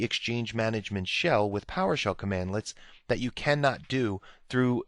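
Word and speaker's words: cmdlets: come with it now Powershell commands are built using commandlets so that's how you pronounce that commandlets and you'll see that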